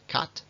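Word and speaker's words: cut: que tiene el inglés fijaos ese parece a este y sin embargo este se pronuncia Cat y este se pronuncia put o por ejemplo estos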